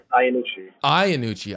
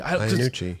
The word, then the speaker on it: Iannucci: What's the correct way to say your last name? Iannucci. Iannucci. It's coming from, my friends always said Iannucci. You probably hear that a lot. Yeah. Yeah. It goes either way, but it is Iannucci.